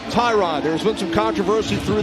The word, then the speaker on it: Tyrod: And by the way, it is pronounced Tyrod.